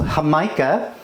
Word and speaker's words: jamaica: this one is called hamica which I know it sounds like an age looks like Jamaica spelled with a J but that's because it's